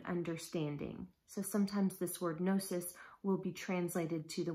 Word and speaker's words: gnosis: have heard it pronounced gnosis but in our english language of course we typically leave off that g sound so sometimes it is